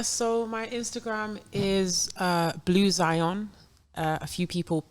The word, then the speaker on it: Blu Xion: so on yeah so my Instagram is uh blue Zion a few people pronounce it bluction but it's blue Zion it's b-l-u-x-i-o-n and same for tick tock I'm